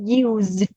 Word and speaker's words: used: là chữ z nhé, used. Ok, đâm này phát là z nhá, không phải là s nhá.